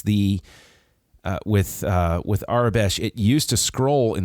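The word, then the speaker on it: Aurebesh: That is I have always said it and heard it as Arbesh. So, I'm going to go with that because I always took it as sort of like an imitation of the word Arabic, you know.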